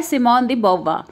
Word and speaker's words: Simone de Beauvoir: मस्त right introduction इस N book written by सीमन दी बा सो दिस नाम इसे एक्चुअली एन फ्रेंच नाम थॉट्स वही आईटी इस प्रोनाउंस इन दिस वे सही वज एन फ्रेंड्स